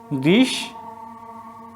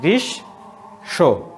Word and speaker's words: গ্রীষ্ম: গ্রীষ্ম। এই যে মূর্ধন্য তো তালবর্ষ হয়ে যাচ্ছে, তো এখানে এই তালবর্ষ 2টা হয়ে যাচ্ছে, গ্রীষ্ম, এবং ম চলে যাচ্ছে, তার জন্য এটা চন্দ্রবিন্দু হচ্ছে।